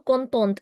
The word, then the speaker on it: contente: Content changes to contente, and you'll hear the T.